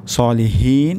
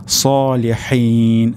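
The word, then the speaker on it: صالحين: শেষের দিকে সলিহিন যদি এমনটি হয় তাহলে আমাদেরকে পরিবর্তন করতে হবে। এখানে উচ্চারণটি হবে সলিহিন, হা, সলিহিন।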